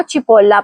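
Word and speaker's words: cipolla: پہلا لفظ ہے چپولا جس کا مطلب ہے پیاز. یہاں چی ای آیا ہے اس لیے ہم اس کو چپولا پڑھیں گے.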